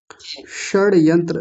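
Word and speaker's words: षड्यंत्र: षड यंत्र देखिए आप तरीका ये रखिए ट बोलिए श बोलिए ठ बोलिए श बोलिए ऐसे करके बोलिए ट श ऐसे जल्दबाजी में नहीं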